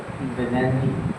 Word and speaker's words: Nadi: যেমন NADI আমি যেখানে থাকি নাদি হবে, নেননি ওর উচ্চারণ প্রনাউন্সিয়েশন।